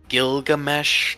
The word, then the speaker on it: Gilgamesh: Gilgamesh? Am I pronouncing that correctly?